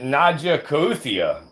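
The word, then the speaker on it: Naja kaouthia: The scientific name of this snake is Naja coetia. Some people pronounce it Najakuthia.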